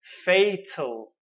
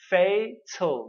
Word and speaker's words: fatal: Our second syllable word is fatal, fatal, not tal, fatal, fatal.